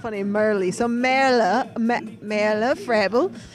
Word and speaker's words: Merle: my nickname merly because it's spelled m-e-r-l-e yes so in in America we'd say Merle yes I know the first time in America my name was Merle at the track and